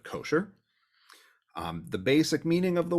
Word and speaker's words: kosher: ashkenazi oriented synagogues so the modern hebrew pronunciation is kasher instead of kosher the basic meaning of